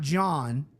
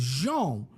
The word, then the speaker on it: Jean: It's not John. It's not Jean. It's Jean.